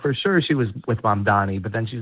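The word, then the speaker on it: Mamdani: We should do a whole show on why so many people can't, even people of goodwill, which not everybody is, can't pronounce mom Donnie.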